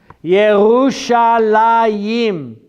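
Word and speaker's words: ירושלים: are different sounding like Jerusalem in English is not pronounced Jerusalem in Hebrew anybody know what is pronounced Jerusalem in Hebrew dave yahoo shall IM not yahoo Shalem yahoo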